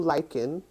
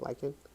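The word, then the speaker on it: lichen: lighter blue is called Blue lyen l i c hen I think that's how you say it lying the green is Fern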